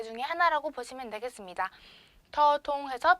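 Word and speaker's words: ธ ธง: 더통해서 평성, 평성이고요.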